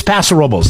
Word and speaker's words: Paso Robles: people that move here from LA and San Francisco, no offense to y'all, but you say it wrong. It's Paso Robles. That's how the locals say it.